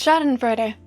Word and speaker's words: Schadenfreude: Anyways, I hope that you guys can take some I know that I'm not pronouncing this correctly. I think it's like Schadenfreude. Schadenfreude. Ah, it was actually very close. Schadenfreude.